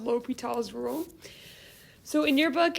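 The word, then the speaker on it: L'Hôpital: i've ever used spells l'hopital with the s this is not pronounced the hospital okay this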